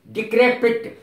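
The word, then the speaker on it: decrepit: आर ओल्ड एंड डेकरी इसका सही उच्चारण है डिक्रे पिट डिक्रे पिट डी ई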